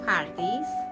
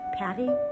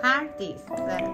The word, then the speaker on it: Pardis: My name is Pardis. Patty? Pardis. Pardis is pronunciation of paradise in my language.